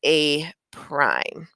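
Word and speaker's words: A′: preimage becomes a and we pronounce that as a prime that tells me I've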